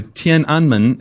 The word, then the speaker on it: Tiananmen: mean just educate me on like what was tenan square and am I even pronouncing it right all about yeah not quite right but it's okay as good as Americans are going to do TI anman is the proper pronunciation Tian anman literally means